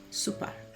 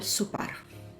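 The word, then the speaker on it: sopar: La Donna prepare Al super the woman prepares the dinner remember dinner sounds like supper supper okay and we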